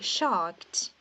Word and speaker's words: shocked: o som do d você retira esse e da pronúncia fica shocked shocked então é sempre